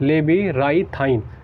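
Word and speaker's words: labyrinthine: अगर पूरा इसका स्पेलिंग अगर हम बात करें प्रोनाउंसिएशन की, तो इसको कहते हैं लेबीराइथाइन, ठीक है, ये हो गया आपका।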